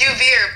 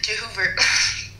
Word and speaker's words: Joovier: It's Joovier, but I said Joover.